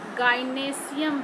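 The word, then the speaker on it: gynoecium: ये है कार्पेल, इसको हम लोग गाइनेशियम भी बोलते हैं, गाइनोएशियम ऐसे हम लोग स्पेलिंग लिखते हैं, गाइनेशियम बोलते हैं।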